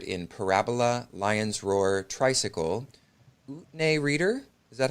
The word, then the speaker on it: Utne Reader: His work has appeared in Parabola, Lion's Roar, Tricycle, Utne Reader, is that how you pronounce it? Whitney reader, yeah. Utne Reader, Buddha Dharma Magazine, Light of Consciousness, and many other periodicals.